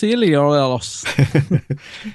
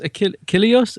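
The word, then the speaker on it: Achilleos: was the cover artist it's Chris ilos yes and it must be spelled correctly no it's Chris ailos ailos Chris ailos that's the one was the uh the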